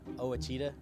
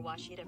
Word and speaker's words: Ouachita: here for you uh I've heard people say Oita oh a Oita is it pronounced Oita Sear for wasita Baptist University back in Texas everybody pronounces it